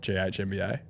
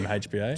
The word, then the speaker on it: GMHBA: their last 4 at GHMBA? GHMBA. Well, sorry, how do you say it? GMHBA? GMHBA. Sorry.